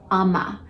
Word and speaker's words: ama: no coating indicates whether or not you have Amma it's spelled a m a and Amma in ayurveda